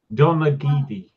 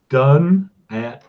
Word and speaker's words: Donaghadee: Irish names are not pronounced as they're spelt as a rule. It's not helpful. No, it's not. I still can't pronounce it. It's Donaghadee.